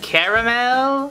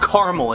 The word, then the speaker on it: Carmel: I think it's pronounced Caramel? No, it's Mount Carmel.